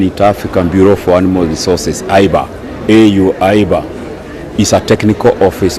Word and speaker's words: AIBA: The AIBA, I was about to pronounce it as AUBA, but I was told it's AIBA.